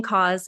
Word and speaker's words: CAUS: Chris, do you pronounce it CAUS, or is there like a? It's just CAUS, yeah.